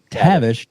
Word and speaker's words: Tavish: Tavish, I keep saying it wrong, man. Tavish. Oh, I put an R. Sound it out.